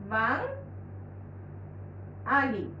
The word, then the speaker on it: বাঙালি: লেখার ক্ষেত্রে আমরা এটা, আর উচ্চারণের ক্ষেত্রে হবে বাঙালি, বাং আলি, এই হলো বাঙালি।